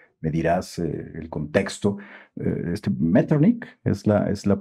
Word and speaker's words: Metternich: de este personaje, me dirás el contexto, este Metternich es la pronunciación de este personaje que después de las